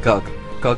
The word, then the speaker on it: Gog: in the Sumerian language it has a word similar to GOG but it's pronounced GUG GUG translates the darkness as